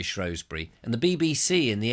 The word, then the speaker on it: Shrewsbury: And they always say Shrewsbury.